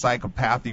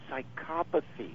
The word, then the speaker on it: psychopathy: red is there anything let me let me correct you psychopathy psychopathy okay psychopathy red okay I just pronounced the syllables what can I tell you yes please psychopathy well thanks for the uh the uh the lesson there but uh lesson in in English there you go know it